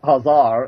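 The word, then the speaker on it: Khazar: turkey EX and descendant of the children of hazar and that Empire that once surrounded the Caspian uh by the way that's spelled k ha a z a r for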